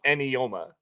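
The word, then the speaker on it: Eyioma: And it's pronounced Enyoma.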